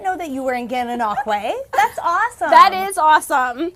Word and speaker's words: Gananoque: Wait, Great Dane Barbecue's in Gananoku. I know that's not how you say it. I was going to say, Gananoque.